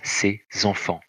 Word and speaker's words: ses enfants: attention ces enfants ici je fais la liaison phonétique et ses enfants ceci même si ça s'écrit ses enfants mais ça se prononce ses enfants attention pierre et sa